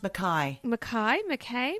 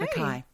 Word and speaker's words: Mackay: I think it's pronounced Mackay. Mackay. Yeah. Okay. Mackay. How do you... Okay. Because it's Scottish, Mackay.